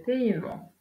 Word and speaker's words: paiement: Il s'agit généralement d'un E. Exemple, le dévouement, le maniement, le paiement. Dans ces exemples, on ne prononce pas la lettre E.